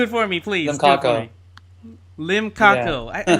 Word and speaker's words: Limcaco: Limcaco.